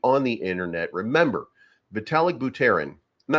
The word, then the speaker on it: Buterin: remember vitalik buteran and I love just saying but Aaron because I could also say buttering and people be like that's not how you say his name and I can be like it is how I say it so um vital dick